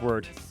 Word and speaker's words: Wort: Our YouTube page, just type in the search bar, The Wort, spelled Wort, but it's pronounced Wort, a podcast.